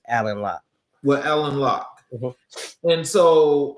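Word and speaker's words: Alain Locke: Is it Elaine Lock? Um, it's spelled that way, but it's Alan Lock.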